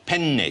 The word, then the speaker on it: penne: I mean you know penne pasta in Italian it's very important that you pronounce a double consonant there are two ends in the world are you saying how do you say penne penne so with that beginning